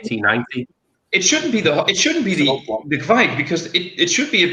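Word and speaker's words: Kveik: it down pat, but I say Kvike like that. I just put a little pronunciation on it. Kvike. I think it's Kvike, but I think I heard the pronunciation from a video by the Craft Beer Channel when they actually went to, I think it was Norway, and brewed with. Yeah, I think they said Kvike, so that's where I got my pronunciation from.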